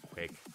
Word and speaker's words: QCK: It was interesting as well that QCK, or Quick, how I like to say, because that's actually how you say it's Quick.